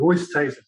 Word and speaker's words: Oosthuizen: Oosthuizen, the young lad who was playing, his dad came up to me and said he wanted me to say it properly, Oosthuizen.